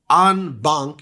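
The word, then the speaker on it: en banc: seek review from the full unbun you spell it e n space b an C italicized unbun review which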